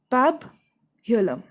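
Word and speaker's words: pabulum: a word given their pub Haarlem that is how it is pronounced pub hilum it's a material for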